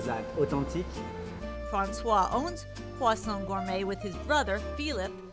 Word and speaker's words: croissant: We're in Croissant Gourmet, a traditional French bakery in Winter Park.